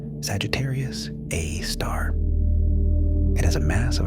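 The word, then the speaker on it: Sagittarius A*: The super massive black hole at the center of our own Milky Way galaxy is called Sagittarius A, pronounced Sagittarius A star.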